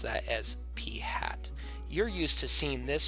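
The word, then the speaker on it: p̂: a little caret symbol above it and we pronounce that as P hat you're used to seeing this before we did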